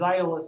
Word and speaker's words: Aeolus: In any case, Eolus is how most people say his name. I say his name as Aeolus because of my classical bent.